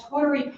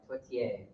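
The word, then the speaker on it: tourtière: In Waterville, we say tute, but totier.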